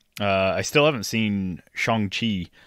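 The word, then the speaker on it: Shang-Chi: i still haven't seen chongqi um to pronounce it as they do uh i still haven't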